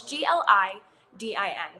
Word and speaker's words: gliadin: So there's research showing that the molecular structure of gluten, which is, or glat, I can never pronounce this right. It's GLIDIN because there's different molecular structures within gluten.